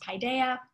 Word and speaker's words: Paideia: you've wondered how to pronounce that word it's pronounced paideia paideia is a tradition that read it's a